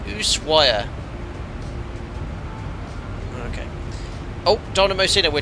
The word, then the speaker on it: Ushuaia: It's pronounced Ushuaia.